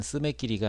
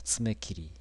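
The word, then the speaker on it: 爪切り: 손톱깎이를 스매끼리라고 했는데 사실은 스매끼리가 아니고 츠메끼리입니다. 츠메끼리.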